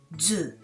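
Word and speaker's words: づ: Tsu plus tenten is pronounced Zu, and Su plus tenten is also Zu.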